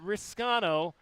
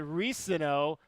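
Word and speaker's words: Reescano: saying your name correctly not risano but reeno but how often have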